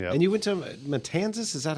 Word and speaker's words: Matanzas: And you went to Matanzas? Is that how you pronounce it?